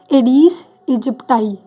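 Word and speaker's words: Aedes aegypti: तो यह disease causing जो है वह एडीज एडीस इजिप्टाई यह एसाइलेंट होता है।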